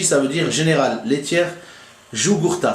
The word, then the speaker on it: Jugurtha: GLJ, ça veut dire Général Laitière Jugurtha. Ça se dit Jugurtha, mais ça s'écrit Jugurtha avec un J.